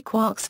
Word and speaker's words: quark: I argued, therefore, that perhaps one of the multiple sources of the cry three quarks for muster mark might be three quarts for Mr. Mark, in which case the pronunciation quark would not be totally unjustified.